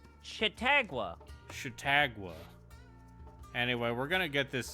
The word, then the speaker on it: Chautauqua: So you said that it's pronounced Chitikwa? I feel like know you how it are is. getting dangerously close to just like mispronouncing African American people's names. Dangerously. Chautauqua. Chautauqua. Chautauqua.